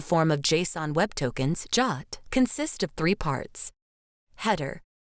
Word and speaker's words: JWT: Jot pronounced Jot and written as JWT is an internet standard for creating signed JSON payload data.